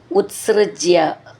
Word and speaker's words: ഉത്സൃജ്യ: മെല്ലെന്ന് ഊന്നി പറയണം അതും ഉത്സൃജ്യ ഉത്സൃജ്യ ത് സ്റ് ഉത്സ് അങ്ങനെയാണ് അത് അതിന്റെ ഉച്ചാരണം വരുക മുത്സൃജ്യ തയാ സമാരമൻ അധർമ്മകാരി